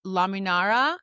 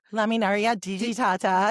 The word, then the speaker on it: Laminaria digitata: It's laminara. Laminaria digitata.